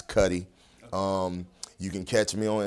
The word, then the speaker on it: Kutti: And I put the pronunciation on Facebook because a lot of folks, they don't quite get my last name, but it's Kutti.